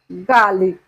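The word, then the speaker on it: garlic: রসুন রসুনের ইংরেজি হবে গার্লিক গার্লিক এখানেও আমরা আর এর উচ্চারণ করবো না এখানে আমরা আর এর উচ্চারণ করবো না তাই উচ্চারণ হবে গালিক ওকে তারপরে আসি জিরা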